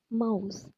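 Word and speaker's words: Maus: Example മൗസ്. നെ നമ്മൾ ഔ എന്ന് പറയും. സോ മൗസ്.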